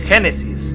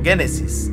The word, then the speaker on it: Génesis: Y se dice Génesis, no Génesis. Pero se escribe Génesis, XD.